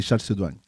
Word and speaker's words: Chalcédoine: En fait, en anglais, ça ne se prononce pas comme ça, mais en français, c'est Chalcédoine. Yes.